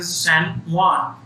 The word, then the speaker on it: San Juan: जैसे यहाँ पे लिखा हुआ है वी वेंट टू सैन जुआन. तो जो ये प्रोनाउंस करना है ये कई बच्चों के लिए डिफिकल्ट होगा. सो प्रोनाउंसिएशन ऑफ दिस वर्ड और दिस प्लेस इज सैन जुआन.